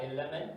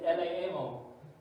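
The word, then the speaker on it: ἐλεήμων: It's not elemen, it's eleemon.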